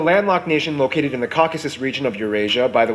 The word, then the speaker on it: Caucasus: Nation located in the Caucasus region of Eurasia by the way it's pronounced Caucasus not caucus a caucus is when